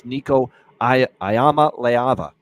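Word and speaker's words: Nico Iamaleava: number one guy fulltime this year and that's niik a ayama leava is how you say it niik ayama leava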